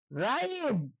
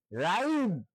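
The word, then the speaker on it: rhyme: যেমন রাইম, আর এইচ ওয়াই এম ই, রাহিম। রাইম শব্দের অর্থ কবিতা। এখানে দেখেন এইচ উচ্চারণ হয়নি, আর এইচ ওয়াই এম ই, রাইম।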